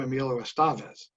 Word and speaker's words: Emilio Estevez: And when he introduces himself to others, he says, I'm Emilio Estevez. So however he says it is the way we should say it.